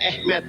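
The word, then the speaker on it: אמת: Ini bahasa Ibraninya alef mem tab, dibacanya tulisannya emet, dibacanya Ehmet.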